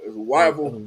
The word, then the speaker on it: Whiteville: Whiteville? Yeah, yeah. Well, Whiteville. I don't think I said it right. It's Wyville.